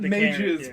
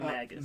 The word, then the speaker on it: Magus: I not mages plural. Mages. We'll call him Magus. Magus. That's better.